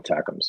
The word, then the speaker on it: ATACMS: They call it attackums.